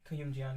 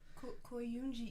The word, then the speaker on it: Koyumjian: Koyumjian, yeah. Koyunji. Koyumjian. Koyumjian. It sounded like there was an M in there.